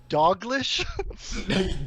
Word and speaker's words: Dalglish: Yeah, it's the L. The L's not where the L should be. LGL throws people off all the time.